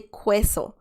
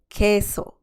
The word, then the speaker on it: queso: and the last word please don't say queso because that's wrong please say queso que so that means cheese perfect